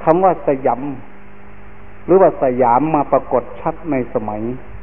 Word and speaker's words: สยาม: ของ ชื่อ ว่า ประเทศ สยาม ภาษา สันสกฤต ว่า สยำ บาลี ว่า สยัง พอ ออก เสียง เป็น ไทย ว่า สยาม เรา จะ เห็น จารึก